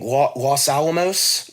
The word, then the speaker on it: Los Alamos: And then it runs to, I might pronounce this wrong, Los Alamos.